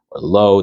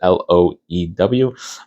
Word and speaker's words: Loew: So that's where or Low, depending on how you pronounce it, Loew.